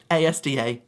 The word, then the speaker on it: ASDA: Some people try and pronounce it, but no. ASDA, that's the way it's meant to be.